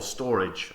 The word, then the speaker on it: Storj: talking to you today about storage or storage I think as it's meant to be pronounced also uh we want